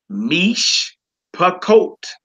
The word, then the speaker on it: mish pakot: You would say mish pakot. Mish pakot. All right. So in other words, when it's 2 Shevas, the second one that you make your sound on, that's a syllable by itself.